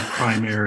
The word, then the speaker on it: Primare: the origin of it well the joke is we don't care as long as you save prime air in some version or another but strictly speaking in